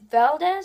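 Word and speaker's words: Valdes: It stars Candace Patton, Iris West, Daniel Panabaker, Caitlin Snow, and Carlos Valdez, I think I pronounce it, as Cisco.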